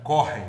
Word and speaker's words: Kochen: aromatizados então o problema o Joyce essa marca correm vamos dar a pronúncia correta correm para isso corre significa cozinhar um amigo que